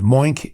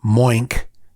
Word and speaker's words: Moink: With Moink, you don't have to wonder.